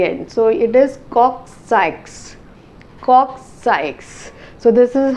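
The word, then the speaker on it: coccyx: but the actual pronunciation is cui and you pronounce x at the end so it is cox cox sikes so this is how the vertebral column will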